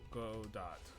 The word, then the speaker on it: Godot: do you pronounce go it's I've always pronounced it Godot wrong go as in go F yourself what's the response and doe as in john doe doe doe go as him go after yourself and john doe doe doe doe that's